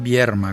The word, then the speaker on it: Vierma: Aclaro que no estoy pronunciando mal, es Vierma con R.